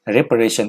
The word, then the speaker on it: reparation: यहाँ पे ये वाला ए साइलेंट है, ध्यान रखिएगा क्या प्रोनाउंस करेंगे, रिपरेशन। प्रोनाउंसिएशन जो इसका होगा क्या होगा एग्जैक्टली, ध्यान से देखिएगा, रिपरेशन, ध्यान से सुनिएगा, रिपरेशन।